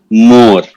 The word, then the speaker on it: Moor: the award goes to More. So in Pashto, mother is pronounced as more. It is written as Moor, but it is pronounced as more.